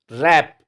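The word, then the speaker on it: wrap: आई नहीं पढ़ा जाता रैप रैप मिस जो व है ये पढ़ा नहीं जाता जो का जो ए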